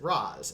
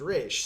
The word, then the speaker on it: Ra's: Arrow, every time they were speaking English, they pronounced it Raz, and every time they were with his characters speaking their language, it was Rish. I don't So- think either way is wrong.